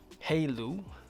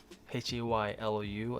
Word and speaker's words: Haylou: So I actually stumbled across this company called Haylou, Haylou. It's spelled Haylou GT1.